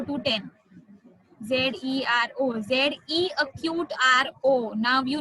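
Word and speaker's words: zéro: Z-E-R-O, Z-E acute R-O.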